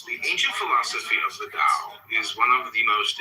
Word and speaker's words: Tao: But in the philosophy of the Tao, one finds a surprising contemporary perspective. The word Tao, properly pronounced Tao, has lent its name to a